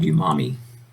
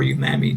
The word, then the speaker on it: umami: There are 5 basic tastes, including sweet, salty, sour, bitter, and what's called umami, or umami, depending on one's pronunciation.